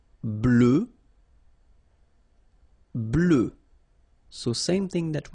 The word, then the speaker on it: blanc: form here okay so here masculine BL don't pronounce the final C and then blanch okay